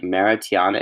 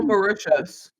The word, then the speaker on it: Mauritius: in London and Mara I can't pronounce it it's like maritiana it's it's all Mauritius it's in normal yeah